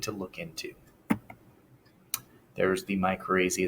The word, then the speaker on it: mycorrhiza: There's something called Mycrazy. And the answer usually to that question is absolutely I am. But beyond that, that helps you just pronounce it. Mycorrhiza is basically where fungus